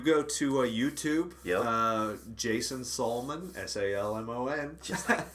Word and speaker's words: Salmon: Yeah, if you go to YouTube, Jason Salmon, Salmon. Just like the fish. Just like the fish. Don't say it that way.